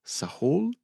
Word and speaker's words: Sahul: I have this uh note here asked about evidence and dating of the first arrivals in Sahul.